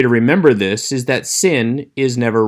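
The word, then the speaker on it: שׂין: indicate two different sounds the one with the dot over the left hand side is sin pronounced s the one with the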